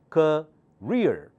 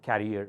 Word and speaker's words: career: the most important one career career career you have to focus on your career career do not say carrier or carrier for this word okay career very good